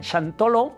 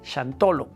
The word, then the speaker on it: Xantolo: Entonces, cuando hablamos de shantolo, en Nagwat decían shantolo o shantolón. Después cuando va evolucionando y lo van tomando los españoles o los mestizos y van escuchando como lo dicen los indígenas de aquella época, lo van pronunciando como chantolo o chantolón. En la actualidad se dice así, chantolo.